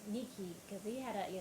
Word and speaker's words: Nike: um my father used to always be like Nikki because he had a you know Aran accent